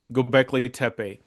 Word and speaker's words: Göbekli Tepe: You said it right. Gobekli Tepe.